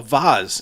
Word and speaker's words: vase: get a vessel a vase in fact sometimes we ours was a former a former flower vase it's pronounced vas vas all right but yes